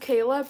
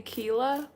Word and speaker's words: Kayla: first name cuz it's it's pronounced Kayla people always say Kela always they're always like Kila Kila so I I don't